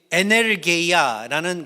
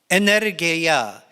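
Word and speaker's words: ἐνέργεια: 근데 원래 그 헬라어로는 이게 에네르게이아라는 그 단어를 갖다가 쓰고 있습니다. 그렇게 제가 그 헬라어를 갖다 발음을 하니까 영어 비슷한 그 단어가 뜨지 않나요, 머리에? 에네르게이아, 에너지, 영어는 에너지라는 그 단어가 바로 이 헬라어에서 나오는 건데, 그 만물을 자기에게 복종하게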